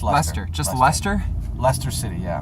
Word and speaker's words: Leicester: I get you, but for I never pronounce that right. Is that right? Leicester. Leicester. It's Leicester.